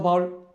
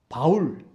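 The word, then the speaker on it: Paul: 예수 그리스도의 제자 또는 사도 바울, 영어 발음은 폴입니다.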